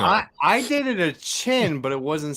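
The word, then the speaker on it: Qin: okay like on your the bottom chin like China q-i-n is chin there's no U where you see you in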